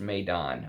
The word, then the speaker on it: Maydan: spirit of dubai's maidan m-a-y-d-a-n i believe it's pronounced madon i'm not a hundred percent sure this actually opens up